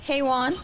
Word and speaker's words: Heweezy: HEWEEZY. HEWEEZY on Instagram. Yes. How do you want to be referred to? Sorry. Hey Juan. You know, like Hey Juan.